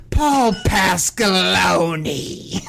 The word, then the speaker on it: Paul Pasqualoni: Paul Pasqualoni. you know when you pronounce his name, you got to do it in the Stephen A. Smith voice, and that's Paul Pasqualoni.